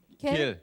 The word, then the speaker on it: 겔: 겔. 겔. 아 거기서 부르는 이름이 예.